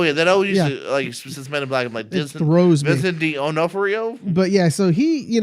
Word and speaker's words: D'Onofrio: you're better at it than I am Vincent D'Onofrio not for you oh yeah that oh yeah is the rose method D'Onofrio but yeah so he you know this is